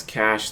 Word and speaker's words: cache: I used to pronounce cache like cache too, but it's pronounced like cake.